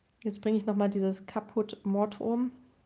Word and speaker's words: Caput Mortuum: Jetzt bringe ich nochmal dieses Caput Mortuum. Caput, der ist richtig ausgesprochen. Ich habe es früher auch immer anders genannt irgendwie. Ich habe das früher, glaube ich, immer K irgendwie Captum Mortuum oder sowas genannt.